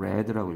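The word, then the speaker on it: read: lunch 는 어떻게 바뀌니 리드 레드 레드 이렇게 바뀌잖아요 원형과 과거형과 과거형이 똑같잖아요 어떻게 가죠 그러면은 주변을 잘 보세요 과거형일까요 레드라고 읽어야 돼요 after i8 lunch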